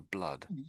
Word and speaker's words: blood: These two words have the same sound for blood. The double O in the double O in blood is the same as the U sound in this word.